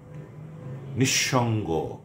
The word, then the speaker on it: নিঃসঙ্গ: যদি শব্দের বা পদের মধ্যে বিসর্গ থাকে তাহলে বাংলা উচ্চারণে বিসর্গ পরবর্তী ব্যঞ্জন বর্ণের উচ্চারণ দ্বিত্ব হবে, অর্থাৎ দুবার হবে।